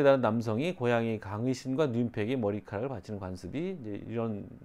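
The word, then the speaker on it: νύμφη: 그리고 이제 뜀페들, 요정이라고도 합니다만 그리스 발음으로는 뜀페.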